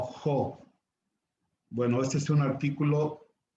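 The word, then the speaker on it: ὁ: que llevar un espíritu, tiene un espíritu al revés, un espíritu rudo. Y entonces suena como una H aspirada, o como en inglés help o hope. Y entonces ya no pronunciamos O, sino Jo.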